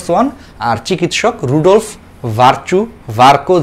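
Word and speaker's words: Virchow: Barco, এই ভার্কোকে অনেকে অনেকভাবে উচ্চারণ করে, অনেকে ভার্সু, ভির্চুও বলো, অনেক বইয়ে আছে, বাট এই চিকিৎসক বিজ্ঞানীর যে নামটা সেটা আমরা মেডিকেল বইও পড়ছি এবং এটার উচ্চারণটা আসলে হচ্ছে ভার্কো বলা হয়।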